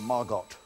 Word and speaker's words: Margot: There's Margot. The T is silent, but not in our canteen.